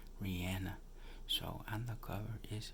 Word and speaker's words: Rihanna: cover and if we know for years I pronounced it as Rihanna but I saw her in an interview yesterday she was pretty adamant you know about the pronunciation that it's Rihanna so and the cover is Rihanna so let's